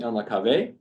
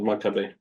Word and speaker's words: Elnekave: So David El-Nakabeh, it's spelled El-Nakabeh, Elnekave. Not Maccabee.